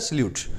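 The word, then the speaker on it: silhouette: world होता है सलूट अब लिखने में तो क्या ए रहा है silohote को पता नहीं क्या लिखा हुआ है बोला जाता है सलूट स्पेलिंग इसकी देख लेना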